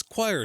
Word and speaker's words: QOIR: the book is available on Amazon just search choir Theory that's spelled q i r Community perspective is a